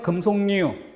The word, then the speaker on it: 금속류: 리을일까가 남고 3번에 금속류. 이거는 금솔류라고는 절대 발음될 리 없죠. 그러니까 명백하게 금속류가 됩니다.